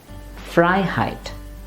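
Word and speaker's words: Freiheit: should not be stressed rather the meaning part of the word which is fry here the freedom that should be stressed so repeat after me it would be fry height la la or this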